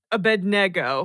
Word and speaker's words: Abednego: more NE that's what Abednego bedo bedo a bedo I've always heard the emphasis on the bed part somebody wrote in the